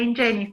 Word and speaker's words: Ingeniis: Es de Ingenis. ¿Quiere decir? Porque como eran dos, yo decía de Ingenies.